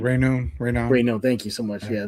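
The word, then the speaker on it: Raynaud: I can't pronounce his last name. Rayno.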